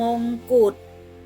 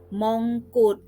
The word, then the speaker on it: มงกุฎ: คำ แรก นะ คะ อ่าน ว่า มงกุฏ นัก เรียน อ่าน ตาม เลย นะ คะ มอง กุด มงกุฏ ก็ หมาย ถึง เครื่อง